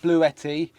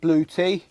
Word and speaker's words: Bluetti: people online call it blue etti or it actually does look like it's actually pronounced blue tea so it can either you may know this item as blue tea or blue ET so you might hear